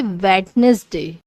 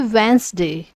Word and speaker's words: Wednesday: say truth say truth don't say wetness day say Wednesday don't say saloon salon